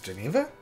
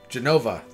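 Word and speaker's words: Jenova: uh Geneva right there to Geneva I am pronouncing that wrong Genova there it is uh who I'm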